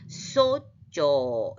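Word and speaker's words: σῴζω: 이것의 기본 동사는 이 제타가 그냥 지읒 발음이 아니고 으쯔예요. 으쯔. 그러니까 쏘쪼 이렇게 돼요.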